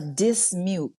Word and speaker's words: Dismuke: name so I can say it correctly a dismute dismute she is our licensed esthetician that